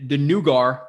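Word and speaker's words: Naggar: Yeah, I'm gonna say the 2 Carters because the Nugar, which is actually how his name is pronounced.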